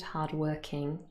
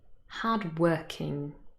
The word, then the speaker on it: hardworking: The next two adjectives, old-fashioned, hard-working, they consist of three syllables, but the stress is again on the second syllable.